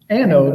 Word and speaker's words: anode: But I just mispronounced adnode rod. And I was consistent though. I said adnode rod through the whole video. Yeah. So you got that going for you. Even though it's anode rod.